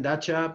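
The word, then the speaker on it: Datça: As I mentioned just then, Dacha, pronounced cha, not ka or sa, Dacha is the main center on this coast on the Gulf of Hisarōnu.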